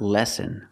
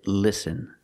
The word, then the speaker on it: listen: know what that is the word is not lesson we cannot use the short a sound like bed and red we have to use the short I I sound like this is li listen listen to me listen to your teacher use the I sound listen because if I say